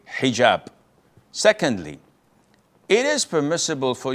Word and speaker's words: hijab: But this is an Arabic word. So we're Muslims, we have to say hijab.